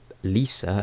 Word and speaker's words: Lysa: Lysa, or Lisa as apparently the author had pronounced it, is just as manic